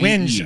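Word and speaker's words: whinge: w h i n g Winge. Um Is this a British term that I am not familiar with? it before. It it's kind of like Is it pronounced winge? Yeah, I I'm trying to think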